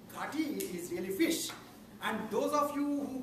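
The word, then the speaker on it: ghoti: Yes, so G-H-O-T-I can be pronounced as fish in English, because G-H in R-O-U-G-H is fa, sound. Right? Okay, and T-I in T-I-O-N is sha sound.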